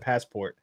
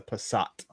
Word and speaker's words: Passat: it I said Pat I said it wrong in the video I said passport but yeah yeah but I think it's a Passat well if it's a